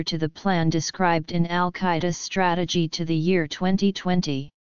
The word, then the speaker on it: al-Qaeda: definite article they hence the base Arabic al-qaeda has four syllables however since two of